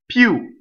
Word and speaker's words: più: So the I in this word is a semi-vowel, like a Y, right? Pew.